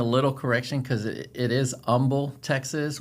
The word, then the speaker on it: Humble: So, let's get into it and we'll just bring a little correction cuz it is umble, Texas, which the H is silent.